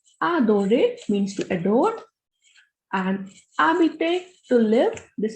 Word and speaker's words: habiter: For example, adorer means to adore, and habiter, to live. This is habiter because H is a muted consonant here.